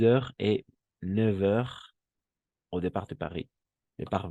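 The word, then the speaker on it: neuf heures: Y aquí va a pasar algo extraño, pero esta F se va a pronunciar como una V. 9 heures.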